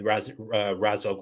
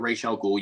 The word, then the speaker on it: Ra's al Ghul: Assassins, Batman's relationship with Ra's al Ghul, or Ra's Al Ghul, however you want to pronounce it. Personally, I say Raz, but whatever.